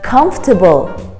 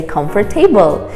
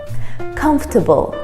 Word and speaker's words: comfortable: and finally number 25 comfortable comfortable comfortable now once again you won't believe how many students mispronounce it and say comfort table it's spelled as comfort